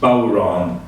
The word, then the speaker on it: bodhrán: The bodhrán is spelled B-O-D-H-R-A-N and is pronounced bodhrán.